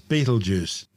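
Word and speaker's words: Betelgeuse: the super giant bleers better known to most people these days as Beetle Juice don't say it three times in ancient times before centuries of mispronunciation the name started out as isbet alza bers is one of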